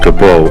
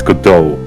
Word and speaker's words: Godot: It's not Gobo, it's Godot, Your Honor. Gobo. It's kinda good indicator that the T is silent.